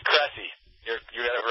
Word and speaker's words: Cressey: It's Cressey.